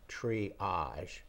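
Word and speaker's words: Tree-äge: The one is called triage. It's spelled TREE-AGE.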